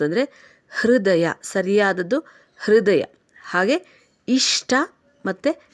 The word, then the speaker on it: ಇಷ್ಟ: ಅಭ್ಯಾಸ ಆಗೋಗುತ್ತೆ ಅದು ಹೃದಯ ಓಕೆ ಅದಾದ ನಂತರ ಇಷ್ಟ ಷ ಕಾರಕ್ಕೆ ಟಕಾರ ಇರೋದು ಷ ಕಾರಕ್ಕೆ ಟಕಾರ ಇದ್ದಾಗ ಷಟ ಆಗುತ್ತೆ ಹಾಗೇನೇ ಕಷ್ಟ ಕೂಡ ಷ ಕಾರಕ್ಕೆ ಟಕಾರ ಇದ್ದಾಗ ಕಷ್ಟ ಷ ಮತ್ತೆ ಟ ಎರಡು ಸರಿಯಾಗಿ ಕೇಳಿಸಬೇಕು ಅದು ಸರಿಯಾದ ಉಚ್ಚಾರಣೆ ಆದ್ರೆ ತುಂಬಾ ಜನ ಹೇಗೆ ಹೇಳ್ತಾರೆ